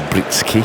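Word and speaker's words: Breetzke: Now, Britsky, there was always the case with South Africans, the pronunciations of some of these names, but I think they're settling for Britsky, an E on the end.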